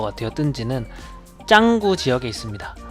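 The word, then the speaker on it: Canggu: 뜬지는 짱구 지역에 있습니다. 이 짱구가 인도네시아 애들이 짱구라고 부르고 영어 스펠링으로는 칸구라고 읽히는데 인도네시아에서 발음할 때는 짱구, 창구 이런 식으로 발음을 합니다.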